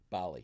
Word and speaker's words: Bali: Is it Bailey or Bali? Bali. Bali.